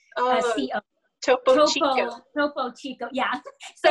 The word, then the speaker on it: Topo Chico: Topo, Topo, and then Chico, CHICO. Oh, Topo Chico.